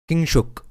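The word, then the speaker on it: কিংশুক: Kingshuk. In Bengali we pronounce it.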